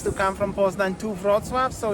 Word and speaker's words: Wrocław: 2 hours, not even 2 hours to come from Poznań to Wrocław, so it's not that bad. And can you pronounce the Wrocław properly, Sayang? Wrocław. Not Wrocław, not Wrocław, but Wrocław.